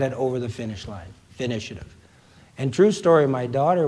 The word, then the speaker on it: finitiative: The word finitiative you mentioned. First, spell it. Finish, I-A-T-I-V-E. Finish, Okay. Finitiative, as in initiative.